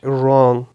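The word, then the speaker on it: wrong: For example right, wrist, रॉन्ग, कुछ भी जो आप एग्जांपल्स देना चाहे। देन साइलेंट H का आ जाता है कि द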